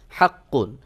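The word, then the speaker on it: حقّ: হরফে কিন্তু তাসদিদ রয়েছে, তখন সহি উচ্চারণ হলো হাক্ক, হাক্ক। কফের মাখরাজে যে আওয়াজটাকে একটু চেপে ধরে একটু দীর্ঘ করে পরে জবরের মতো হালকা আওয়াজ করে দিতে হবে। যেমন হাক্ক, হাক্ক, হালকা করে। পুরোপুরি যদি আপনি হাক্ক বলেন তাহলে কিন্তু এখানে জবর চলে আসবে, ওটা সহি উচ্চারণ হবে না।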